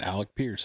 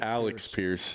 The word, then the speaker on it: Alec Pierce: Yeah, so I said Alec Pierce. You said Alex Pierce.